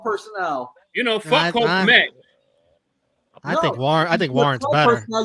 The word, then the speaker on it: Kmet: Kmet rhymes with Jet.